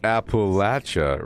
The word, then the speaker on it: Appalachia: But you know it's pronounced Appalachia, right?